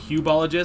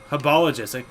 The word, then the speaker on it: Hubologists: no surprise there but they did say hypologists and i always call them hubologists because i didn't know how to pronounce it but habiologists it's rolls off the tongue a lot better than hubologists you know you know